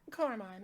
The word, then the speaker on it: Coromon: Devi, you have something here called Koromon. Am I pronouncing that correctly? Yep, Coromon.